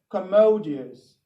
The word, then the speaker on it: commodious: of the week please uh is um spelt c o m m o d i o u s how do you pronounce that word okay fine it is pronounced commodious commodious commodious fine it is used to mean